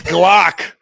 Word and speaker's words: Glock: what do you it rhymes with rock. You're right. It's Glock.